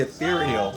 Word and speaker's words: Ethereal: It's called the Ethereal. The Ethereal. Electrostatic headphone It rhymes with venereal.